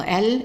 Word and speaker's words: elle: So she is E-L-L-E, and the E at the end is silent. So we only pronounce the E-L. Even this L, we can consider it as silent. So how do we pronounce it? L, L, L. So the E here is pronounced as an A, and that's because it's followed by double L.